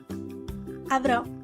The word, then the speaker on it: avrò: The correct pronunciation of O is only indicated in a few words, and it's always an open O. Avrò, avrò.